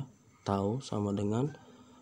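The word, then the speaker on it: τ: Oke, yang ketiga, rumus torsi adalah torsi atau tau, cara bacanya ya, tau sama dengan F dikali R atau gaya dikali dengan panjang lengan.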